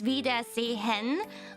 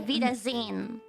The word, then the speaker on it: Wiedersehen: If you say it very clearly, it's Wiedersehen, but you can just say Wiedersehen.